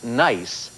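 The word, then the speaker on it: gneiss: right science for 800 the metamorphic rock pronounced nice is spelled This Way Joe what is g NE I SS nice yes science for 1,000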